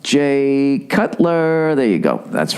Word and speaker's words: Jay Cutler: Jake Cutler. Is it Jay or Jake? Jay Cutler. That's right. Jay Cutler, right?